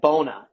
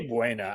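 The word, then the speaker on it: Buona Beef: Now I believe they pronounce that bona, and my pops calls it boner beef, but that's I say Buena.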